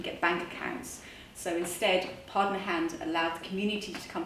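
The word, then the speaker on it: pardner: Now, pardon a hand is spelled P-A-R-D-N-E-R, like partner, but partner, is an informal community-based savings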